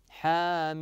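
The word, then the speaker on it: حم: ذلكم في قوله تعالى حام هكذا تنطق يا ابنائي حامي م م م فصلت فصلت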